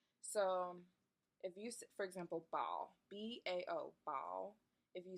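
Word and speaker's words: 包: So if you, for example, bao, B-A-O, bao, if you say bao with the first tone, long and flat, bao, and that means bag.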